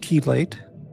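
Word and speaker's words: chelate: It's uh pronounced keelate.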